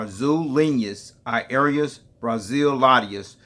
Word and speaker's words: Azul Linhas Aéreas Brasileiras: Azul Brazilian Airlines, or Azul Linhas Aéreas Brasileiras, which is pronounced in Portuguese, is a Brazilian-based low-cost airline